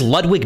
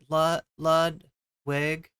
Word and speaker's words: Ludwig: Pronounce Ludwig like an American kid would? Wait, how did it... Ludwig? It's really like just Ludwig?